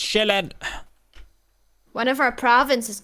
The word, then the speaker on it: Sjælland: That's the name that we've given Sjælland, as it's pronounced in Danish. Zealand is probably the English pronunciation that you've heard. Zealand, I know Zealand. Yeah. Yeah. It's not how it's pronounced, though. It's Sjælland.